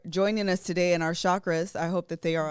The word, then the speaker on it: chakra: chakra often mispronounced as chakra that's wrong with the sss first syllable chakra hindu is a hindu site chakra is actually pronounced with the cha with the sound heard in patch and munch i was like because